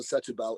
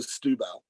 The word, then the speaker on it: Setúbal: word it means Saints so it always gets compressed the E disappears so um and and we think it was Muscatel but those are often pronounced as used so it's not Muscatel the settlebell it's musketel de stubel